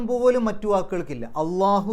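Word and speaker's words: الله: ഉച്ചാരണം പോലും മറ്റു വാക്കുകൾക്കില്ല അള്ളാഹു എന്ന് പറയുന്ന ആ ഒരു ലാമിന് കട്ടികൂട്ടി പറയുന്ന തരത്തിലുള്ള ഉച്ചാരണം പോലും മറ്റൊരു സ്ഥലത്തും വരുന്നില്ല ഇനി മിനശൈത്താനി അശൈത്താൻ എന്താണ്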